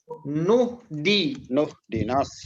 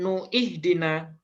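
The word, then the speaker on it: اهدنا: Nuhdinas. Nah, nuhdinas siratal mustaqim. Nah, kenapa di sini nuhdina bukan nuihdina? Di wasol. Karena hamzah di sini adalah hamzah wasol namanya.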